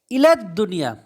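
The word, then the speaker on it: إلى الدنيا: আরবি হলো দুনিয়া তাহলে ইলাদ দুনিয়া এখানে দুনিয়াকে আমরা আল লাগাবো কিন্তু লামটা উচ্চারণ হবে না দালের জন্য এগুলো আপনারা সেই পূর্বের অনেক আগে ক্লাসে লিখেছেন তাহলে তাহলে হলো লা ইয়ারজে আহাদুন ইলা দুনিয়া মানে কেউ দুনিয়াতে ফেরে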